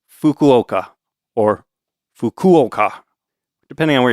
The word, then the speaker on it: Fukuoka: that syllable in Japanese. It's not really an F sound like it is in English. It almost sounds a little more like you're just kind of blowing out air like H.